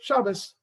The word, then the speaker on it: Shabbos: Traditional Jews will say good Shabbos, right? Same word, a couple of letters were changed.